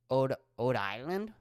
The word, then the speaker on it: Rhode Island: No, you wouldn't pronounce the R. So it'd be Ode Island?